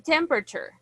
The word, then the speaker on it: temperature: Pronunciation, temperature. Temperature. Temperature. It's like letter A doesn't exist.